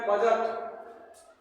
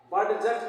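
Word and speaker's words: budget: हैं अब नेक्स्ट है बजट बी यू डी जीई टी बजट इसका सही प्रन क्या होगा बजट बी य डी जी टी G silent है बड जट नहीं बोलेंगे इसको बजट लेखा जो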